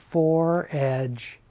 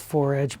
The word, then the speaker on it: fore-edge: things he collected were Fore-edge, and that's spelled F-O-R-E, for like before.